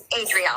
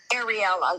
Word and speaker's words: Adrielle: Ariella, yeah, Arielle. Adrielle. I always say her name wrong.